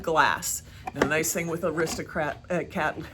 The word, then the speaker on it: Aristocrat: the nice thing with aristocrat a cat i keep saying it wrong i keep wanting to say arista cats because i have that disney movie thing in my head the aristocrat boxes have